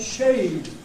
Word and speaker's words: shade: rhyme and of course the first one was not shed not the little wooden house in the back of the garden where you keep the garden tools right he didn't mean shed he meant shade shade where the the